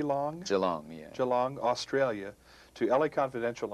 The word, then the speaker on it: Geelong: that takes you from your hometown am i pronouncing it right g long geelong geelong australia to l.a confidential and now toronto